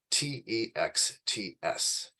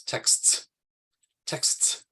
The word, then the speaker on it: texts: that's hard for adults to pronounce and that is spelled t-e-x-t-s right so the way to pronounce it is texts texts but most people probably reduce that that um